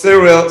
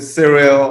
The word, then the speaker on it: Cyril: It's pronounced Cyril. Some people pronounce it Cyril, or some kind of drag it out and say Cyril, or make it shorter, that is.